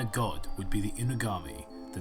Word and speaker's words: Inugami: The Inugami, I guess, is how you pronounce it. Inugami!